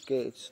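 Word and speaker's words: catch: अब ये कैच शब्द है, इसमें आप क्या पढ़ रहे हैं, कैच। तो देखो ये बीच में जो टी है उसका कोई उच्चारण नहीं हुआ, तो आपका उत्तर क्या हो गया, बी हो गया।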